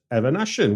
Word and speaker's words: Eveneshen: Stuart R and today's guest is filmmaker re Evan aan welcome to the show thank you very much